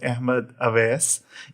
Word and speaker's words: Ahmad Awais: it you know all pronunciations you know all pronunciations were good so so my name is Ahmed AES and the fun part is a is my